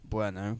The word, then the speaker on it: Bueno: But I kept seeing it as Burno, as in Kinder Bueno, which is actually pronounced Bueno.